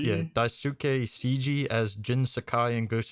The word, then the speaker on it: Daisuke Tsuji: You want to pronounce this man's name, Waves? Daisuke Tsuji? Yeah, Daisuke Tsuji as Jin Sakai in Ghost of Tsushima.